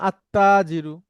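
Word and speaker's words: التاجر: তাহলে এই তাজিরুতে যখন আলিফ লাম দিব তখন আর লামটা উচ্চারণ হয় না। তখন হয় আত্তাজিরু।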